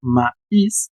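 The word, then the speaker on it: maïs: Le pusieron la diéresis etema sobre la i para que pudieran pronunciar la vocal separada. Ma is y la s sí suena porque no es del francés.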